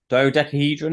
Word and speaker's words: dodecahedron: to speak this word uh a diode debt dodecahedron is it yes thank you yeah okay um